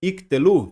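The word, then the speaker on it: יִקְטְלוּ: Lembra da palavra iktelu, que está aqui embaixo? Então, ó, ik, primeiro Shivá mudo, telu. Olha aqui debaixo do tet, telu. Iktelu, iktelu, iktelu.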